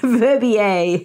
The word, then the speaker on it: Verbier: And then after that, she mentions going to Verbier. I looked up the pronunciation of that, Verbier in the Swiss Alps.